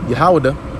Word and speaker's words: Yahawadah: All right, going into our head tribe, Yahawadah. Okay, that's how you say it in the Paleo Hebrew, in a proper tongue, and it's not Judah.